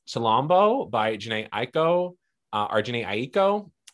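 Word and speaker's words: Chilombo: i mispronounce anything here i think it's pronounced shalombo by janae aiko arjuni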